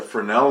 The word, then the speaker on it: Fresnel: If you've ever heard of Fresnel lens, it's spelled, looks like it's spelled Fresnel. It's a Fresnel lens, and this is the